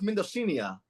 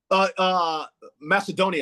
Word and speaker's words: Macedonia: Then North Mendocina. Did I pronounce it right? Oh, all right. North what? Indonesia? Macedonia. Excuse me, North Macedonia.